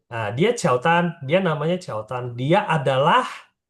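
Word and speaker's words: 乔丹: Oh, Tapi Mandarin kan nggak ada J. Jadi bacanya bukan, dia nggak bisa ngomong Jordan gitu, nggak bisa. Jadi oh, dibikin Mandarin 就 Qiaotan. 交 Nah, 交谈。 dia Qiaotan, dia namanya Qiaotan.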